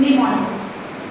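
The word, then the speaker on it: mnemonics: ंग this is लेमोनिस MS silent please this is called as निमोनिक्स निमोनिक्स जो है ना जैसे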